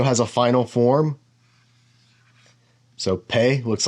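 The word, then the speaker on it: פ: sound like pop and if it's a soft pay it's a f sound like pH and I believe that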